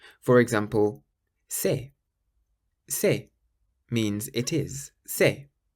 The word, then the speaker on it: c'est: If you see the letter C in front of an E or an I, then you pronounce it like an S. For example, c'est.